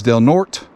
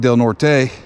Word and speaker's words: Del Norte: pronunciation of the county name local print locals pronounce the county name as del norte not del norte as would be expected in spanish the county